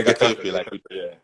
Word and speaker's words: Getafe: Your former team, Getafe. Did I pronounce it right? Yeah, Getafe, Getafe in Ghana, play against Espanyol.